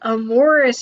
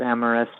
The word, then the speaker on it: amorous: uh all this in a way to suggest a morris including tamara's no no amorous it's pronounced amorous also that face is getting more cursed every